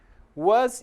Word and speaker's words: was: Então, no inglês americano, costuma-se marcar mais a letra A de was e o R de were. Já no inglês britânico, as de was é mais sutil. A letra R de were também não é pronunciada.